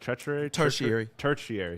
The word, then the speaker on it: tertiary: I believe I'm saying it right. Tertiary. Yeah, no, you were there.